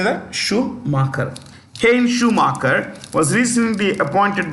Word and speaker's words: Schumacher: Schumacher.